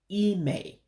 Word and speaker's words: ịmee: And again, your special characters pronunciations is the I with the dot underneath, which gives it that high E or I sound like ink, ink. So that's why you're saying ịmee. And when you have two vowels together, like the two E's here, remember the two E's make an A sound. It just means to drag it out when you pronounce it.